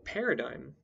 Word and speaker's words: paradigm: letters take the example paradigm in which the g in the root is silent however in the adjectival